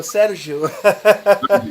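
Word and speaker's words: Sérgio: Um, Sergio, and I'm saying that the Portuguese pronunciation for Sergio, Sergio. I know Portuguese, so yeah, you can say like that.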